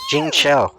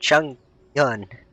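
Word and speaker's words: Chongyun: Jing Cho. I said it wrong. And Chung Yun.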